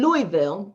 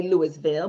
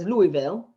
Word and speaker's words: Louisville: and organized that in louisville that's how you say it but some people might read it on paper and they would say louisville but louisville they came in contact